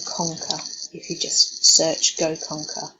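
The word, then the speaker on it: GoConqr: If you just search Go Conquer, which is spelled G-O-C-O-N-Q-R.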